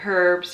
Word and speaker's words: herbs: Candida, just, antifungal herbs, I keep saying herbs, you're not supposed to pronounce the H anyways, so you can go and buy that.